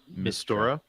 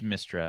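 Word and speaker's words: Mystra: But the only ones I know about are Selune, Denir, and Mistora. It's Mistra. I was saying it wrong.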